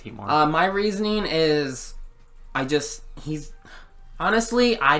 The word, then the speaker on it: Heatmor: Yeah, it's Heatmor.